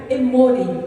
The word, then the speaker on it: emori: E aqui, o nome amorreu vem do hebraico emori. Eu ia até fazer um slide, esse eu esqueci. Eu deixei outros 2 slides com você, né, Alexandra? Mas é emori, como se escreve lá no português mesmo, E-M-O-R-I, tá?